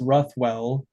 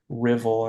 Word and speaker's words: Ruthwell: It's it looks like it's supposed to be pronounced Rothwell. R U T H W L, but it's actually pronounced Rivvel.